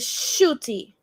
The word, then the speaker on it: Ncuti: t that's the one oh you pronounce it shooty that's it yeah it's a swahili sorry oh that's that's